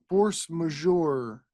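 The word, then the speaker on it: force majeure: through uh what what how do you pronounce that that force mayor force major force majour yeah so a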